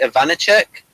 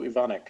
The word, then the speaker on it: Ivanek: I thought the acting was good from, what is it, Ivanicek? The guy playing... Yeah, Joko Ivanek, I believe is how you pronounce it.